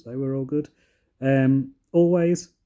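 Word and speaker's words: Alvvays: were all good um always which is spelled with two v's so a l v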